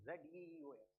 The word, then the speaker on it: Zeus: In the ancient Greek culture, the king of the gods was Zeus, not J-U-I-C, it is Z-E-U-S. Zeus, it is pronounced.